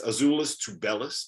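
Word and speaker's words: Azuolas Tubelis: learned that i have no idea how to pronounce anyone on arizona's uh name because it's azulis to bellas i got that wrong it's dale and terry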